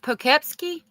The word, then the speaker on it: Poughkeepsie: Yeah, is it pronounced Poughkeepsie?